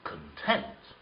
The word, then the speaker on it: content: something what is the content of this book what does it contain however i feel very content content here the stress is on the second syllable okay at christmas i